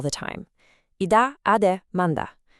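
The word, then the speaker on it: mandag: I dag ade manda. Pay close attention to how that last word sounds. Manda.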